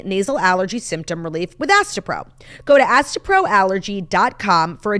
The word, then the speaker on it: Astepro: Faster Pro meant to rhyme with Astepro?